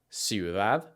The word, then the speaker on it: ciudad: For the soft C sound, this is the same sound as an S. Some Spanish words that have this sound are ciudad, cintura, cepillo.